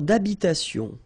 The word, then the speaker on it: d'habitation: Une tour d'habitation. Remember, H doesn't exist in French, well, in most of the cases. So, it does mean that you don't pronounce it, all right?